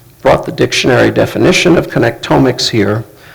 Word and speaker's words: connectomics: did it would be genomics it would be connect omics and I know this is a new term for most of you so I have brought the dictionary definition of connect omics here it's pronounced connectomics was AI so most